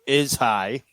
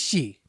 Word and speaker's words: Ishii: High Row is high. Wow, you sound like Jim Ross right about now. Sleazy, you say it better then. 23 Tomohiro minutes. Ishii.